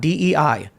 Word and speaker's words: Dei: Yeah, apparently pronounced Dei, by the way. Dei, there you go. See, I knew I wasn't getting it right because I don't speak Latin or anything like that.